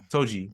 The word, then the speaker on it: Toji: But Todo was so strong that Am I saying it right? Todo or Toji? Toji. Yeah.